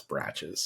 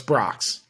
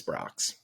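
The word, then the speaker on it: Brach's: now rocks oh it's Brock's it's Brock's It's gotta be Brock according to one of their own commercials it's Brock's oh okay I kind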